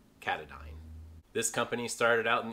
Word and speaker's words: Katadyn: heard this brand called katahdin just like the mountain in maine but it is actually a swiss company and it is pronounced katadyn this company started out